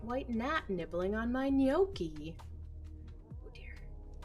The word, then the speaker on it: gnocchi: fluent spanish at home g is for gnocchi the nomials waiter there's a bright white nat nibbling on my gnocchi oh dear h is